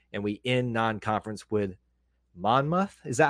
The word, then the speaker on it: Monmouth: Georgia State Purdue and we in non-conference with Monmouth is that how you say it Monmouth yes that's that's that was my guess that